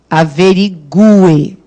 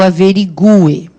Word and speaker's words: averigue: Que eu averigue. É o U que é fortão, ó. Que eu averigue.